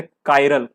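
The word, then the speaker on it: chiral: Chimney में तो ची हो गया और यहाँ पे चाइरल होता, लेकिन कायरल बन।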